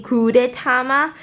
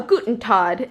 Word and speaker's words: Gudetama: a little egg, and I think it's supposed to be Gudetama, but I always call it a Guten Tag, and I know that's not right.